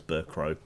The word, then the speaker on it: Bercow: of the House is John Burke oh he'll I keep mispronouncing his Burke row for some reason you'll